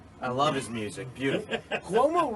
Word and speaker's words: Cuomo: And where Cuomo is the governor. The singer. I love his music. Beautiful. Cuomo rhymes with Como.